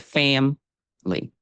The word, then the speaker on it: family: But what most people do is just drop that second syllable completely, and you get family.